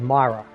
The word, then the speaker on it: Mira: uh the redress of Myra not mira mira either way I guess you know however you want to pronounce it the game pronounces it Myra so that's how we're